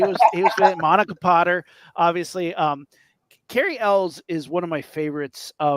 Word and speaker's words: Elwes: You pronounced his name correctly. I will not. Carrie Elwes. How do you say it? Elwes.